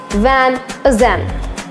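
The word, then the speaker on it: Van Heusen: but now it's just van Zen here its pronunciation can be bit difficult for you because there is a silent word and that is H you don't need to pronounce it it's just van is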